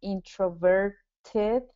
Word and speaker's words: introverted: sound yes so so that comes back to the um the tap t rule when a t is surrounded by vowels it becomes a d pronunciation but just to make sure you're aware this e r right here so R is not a v but e r is an R vowel so okay so that's